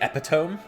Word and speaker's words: epitome: They'll say epitome. I always find that interesting. I was like, I used to think it was called epitome when I was in high school. Epitome. Oh, yeah. It's spelled like this. Yeah, that's pronounced epitome, not epitome.